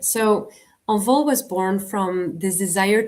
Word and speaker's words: Envol: I say Envol. You say it right, envol. Okay, because I actually Googled how to say this in French, and that's so I was like Envol. I think that's how you say it, not Envol. Envol.